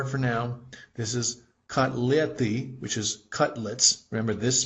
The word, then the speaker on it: котлеты: This is kotleti, which is cutlets.